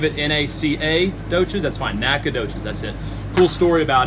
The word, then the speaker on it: Nacogdoches: you say your hometown Nacogdoches okay so there's there's an O energy in there okay they're not Nacogdoches it's just Nacogdoches let it roll nice and smooth Nacogdoches if you if you